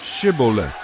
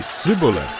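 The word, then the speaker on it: shibboleth: said no i'm not they would tell him to say shiboleth if he was from ephraim he would say siboleth because people from ephraim cannot pronounce the word correctly then they would take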